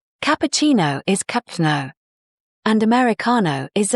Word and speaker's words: cappuccino: Cappuccino is cap-chee-no. And Americano is ah-mer-i-cah-no. But honestly, even if your pronunciation isn't perfect, the context helps a lot.